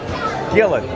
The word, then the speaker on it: Jillian: Jillian says, and my name is pronounced Gill, as in like fish, Gill. So Gill, is it Gillen? Gillen. Gillen? Thank you for the update, Gillen.